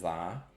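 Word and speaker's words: Z-A: Um, I have one more shiny legendary in Pokemon Legends Zaha. And yes, that is the right way to pronounce it.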